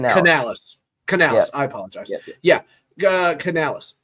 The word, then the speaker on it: Canales: Is it Corales? Canales. Dave Canal. Canales.